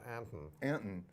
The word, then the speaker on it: Anton: a-n-t-o-nine except of course in this state it's pronounced Anton yeah so you'll have to stop and have